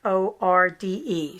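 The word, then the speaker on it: Fforde: is jane eyre e-y-r-e jasper ford's last name is welsh so it's spelled double f f f f-f-o-r-d-e so not ford automobile but f-f-o-r-d-e the air affair if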